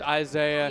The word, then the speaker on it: isai: Chat's saying it is supposed to be pronounced Isaiah.